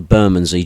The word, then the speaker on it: Bermondsey: you pronounce the band name the the correct pronunciation is the buray joy Riders Burmy is an area in London that is predominantly